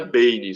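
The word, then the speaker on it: Beine: E o nome era Bane, só que escrito B-E-I-N-E, né, como se pronuncia, né, desse personagem, com a paródia do Bane.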